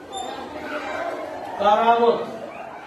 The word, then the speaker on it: কারামত: কারামত উচ্চারণ হবে কয়াকা রয়াকা ম ক।